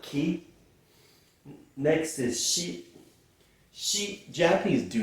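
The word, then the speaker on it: し: looks a little bit like Keith next is she she Japanese do not have a seat sound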